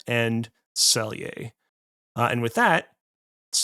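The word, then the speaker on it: Celje: of it uh spelled C E L J pronounced Selier. So, Liubiana and Selier.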